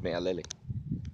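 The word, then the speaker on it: mealele: to say it but I've learned the correct way to say it is me alele right uh right on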